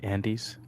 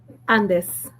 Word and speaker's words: Andes: What is the proper way to pronounce Andes? Andes. Andes.